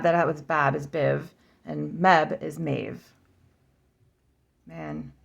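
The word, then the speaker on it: Badb: okay like the other one Biv so the bab that was Bab is Biv and Meb is mave man and that's Irish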